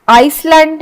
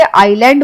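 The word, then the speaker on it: island: फिर आइसलैंड नहीं बोलते। आइलैंड बोलते हैं हम क्योंकि इसमें आई साइलेंट है। तो हम बोलेंगे आइलैंड।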